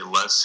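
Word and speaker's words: loess: extremely deep if you go out to the less Hills it's you know maybe tens of feet thick on the Des Moines low you know it could be four to six feet did you say Less Hills the Western portion of Iowa oh you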